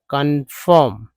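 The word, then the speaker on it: confirm: तो इस तरह से भले ही आपको लग रहा होगा, लेकिन यहाँ पर ओ का उच्चारण अ के रूप में हो रहा है।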